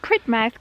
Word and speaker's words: Polridmouth: So we're on our way down to Polridmouth or Pridmouth Cove. Yeah, we found out recently. Apparently locals say Pridmouth, but Yeah. if you look at it written down, it says Polridmouth.